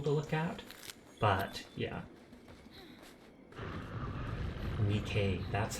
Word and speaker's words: NIKKE: Nikkei, that's how it's pronounced.